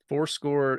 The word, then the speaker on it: forScore: Fourscore is spelled Forscore.